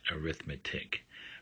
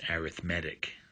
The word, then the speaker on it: arithmetic: used as a noun the word arithmetic is pronounced just like that arithmetic but when it's used to describe something else as it as in an adjective uh it's pronounced arithmetic so this term is arithmetic sequences so the